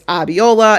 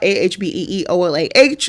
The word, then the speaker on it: Abiola: It's Abiola, Ahbeeolah is how you pronounce my name if you're ever confused.